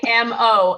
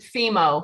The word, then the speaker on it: Fimo: It's Fimo, and I pronounce it Fimo.